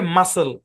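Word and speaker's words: muscle: ও নাই কিন্তু তারপরেও এখানে সি টা সাইলেন্ট এই শব্দের উচ্চারণ হচ্ছে মাসেল মাসেল কি উচ্চারণ মাসেল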